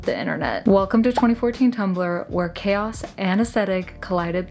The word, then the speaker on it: Tumblr: Wikipedia states, Tumblr, pronounced Tumblr, is a microblogging and social networking website founded by David Karp.